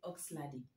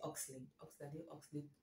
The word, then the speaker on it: Oxlade: allons parler de oxelade au début je croyais que son nom c'est prononçait oxlady enfin c'est son nom de scène je croyais que ça se prononcer aux saladé mais finalement c'est oxel nous allons parler de